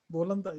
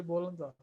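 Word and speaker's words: بولندا: So with countries that start with a P, in order for us to pronounce them in Arabic, we turn the P into a B. Yes, like which one? Poland. So we say Yes. Poland. Yes, Bolanda. You say Bolanda.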